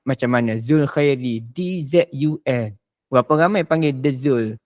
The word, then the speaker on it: Dzul Khairi: Macam orang putih kan dia banyak huruf tambahan di depan tapi tak dibacakan pun. Jadi saya tu pun D tu dipanggil harfuz ziyadah. Huruf tambahan yang tak dibaca pun. Dia baca Zul Khair.